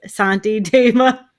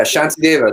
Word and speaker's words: Shantideva: it, Yeah, I said Santi Deva. yeah. They have the S with the little accent over it is a sh sound. Apparently, Right. that's how they spell it sometimes. Yeah, Shantideva means peace god.